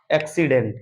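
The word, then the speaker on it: accident: तो बच्चों देख लेंगे एक क सी क स क और स मतलब पहले सी को क दूसरे को स पढ़ा जा रहा है क्यों क्योंकि जब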